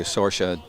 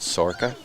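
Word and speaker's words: Sorcha: get it away to Sorca Dawson. Or is it Sorca? Different parts of the country pronounce it in different ways.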